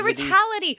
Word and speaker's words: Retality: Oh, the Retality. Retality. Right. Okay. So it's the retail. The T is like Retail T. Retail and reality.